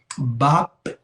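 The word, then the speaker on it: βαπτισμός: Em grego, baptismos, com acento na última sílaba.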